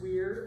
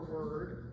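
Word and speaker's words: Wyrd: It takes place in the aisle of word. That is spelled W Y R D. That may be pronounced weird or word.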